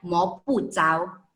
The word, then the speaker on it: 摸不着: Selanjutnya, 赤不透，摸不着，却看得见。摸不着, di sini kita baca 摸不着 ya, karena memang tulisan cao ini ada juga bisa dibaca dengan ce, tapi konteks di sini dia bacanya 摸不着.